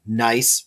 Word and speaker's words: gneiss: So here we have a rock called gneiss. The G is silent, so it's a gneiss rock. And gneiss is clearly foliated.